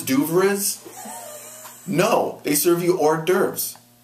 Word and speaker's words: hors d'oeuvres: No, they serve you hors d'oeuvres. You don't pronounce it just the way you spell it because it comes from French.